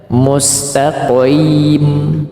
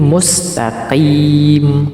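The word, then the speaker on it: مستقيم: tetap Qi bukan jadi kalau membacanya mustim itu salah bukan tetapi mustaqim Q Q tetapi juga bukan huruf Kaf mustaqim itu juga keliru tetapi mustaqim mustaqim ya kita ulang ihdinasatal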